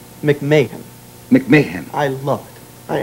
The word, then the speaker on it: McMahon: to play your dadie only only you would pronounce Ed's name absolutely correctly it is not MC manah McMahan McMahan I love it I absolutely love being